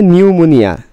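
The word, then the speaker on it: pneumonia: নিউমোনিয়া। এখানে P silent, নিউমোনিয়া না, ওই রকম নিকটোজেন।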